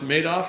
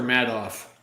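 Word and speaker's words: Madoff: Is his name pronounced maid off or mad off? Yeah, everybody called him maid off cuz he almost made off with it.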